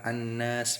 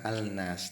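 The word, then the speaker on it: النَّاس: Cara bacanya adalah an-nas, bukan al-nas, tapi langsung an-nas karena ada alif lam bertemu dengan nun.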